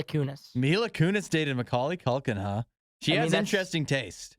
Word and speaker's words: Culkin: I think it's pronounced Macaulay Culkin.